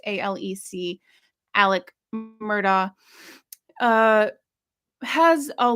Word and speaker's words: Alex: gentleman Alex Murda which it's spelled a-l-e-x but it's pronounced a-l-e-c Alec murder uh has